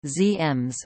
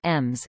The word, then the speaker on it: Siemens: Siemens AG, Aktiengesellschaft, German pronunciation, ZEMS or EMS, is a German multinational